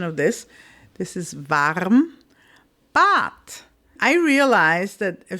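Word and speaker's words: warm: this particular word like varm most cases we will just say vam we won't even say the r particularly in Austria and the more southern areas of Germany but technically if you want to speak very very proper you say v that's true however there isn't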